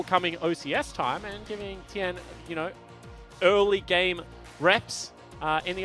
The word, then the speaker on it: Tien: we're going to go with Tien.